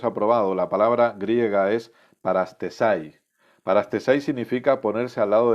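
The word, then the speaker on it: παραστῆσαι: La palabra griega es parastesai. Parastesai significa ponerse al lado de Dios o de acuerdo con Él. Fíjate qué importante. Parastesai, tal y como suena, se escribe.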